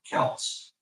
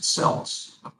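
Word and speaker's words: Celts: that sounded even better we become Kels course in those days we pronounced it selts we remembered Boston Celtics I guess uh well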